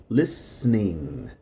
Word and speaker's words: listening: In number 8, the T and the E are going to sound muted. They're silent. Listening, listening, listening. There are some people that say listening, but most people will say it like this: listening.